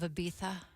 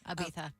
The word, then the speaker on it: Ibiza: They were first spotted together last summer on the island of Ibiza. That's how they say it. Ibiza.